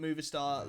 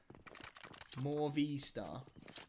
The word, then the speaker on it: Movistar: Isn't it Movistar like the company? Yes, I think so. Am I pronouncing it wrong?